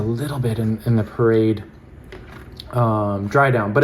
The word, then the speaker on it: Parade: the models were wearing parade. Um so let's see. I suppose in French it's parad, which also means just to walk.